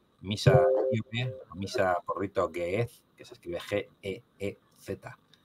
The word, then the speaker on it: Ge'ez: Si queréis un día os busquéis por ahí una misa etíope, misa por rito Ge'ez, que se escribe G-E-E-Z.